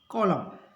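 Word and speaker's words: column: एन एन जो है एम एन यदि हो तो एन साइलेंट रहेगा एम का उच्चारण होगा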